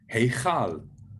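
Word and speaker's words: הֵיכָל: It's the word for the temple, and it's pronounced heichal, heichal. There you see the ch sound, which is the K with the hat on top of it.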